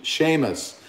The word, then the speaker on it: Seamus: Thank you very much for the pronunciation. Seamus.